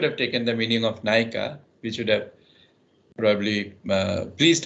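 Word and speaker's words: ନାୟିକା: question is the word which you discussed is pronounced in uriah as naika which means heroin so it may be pleasant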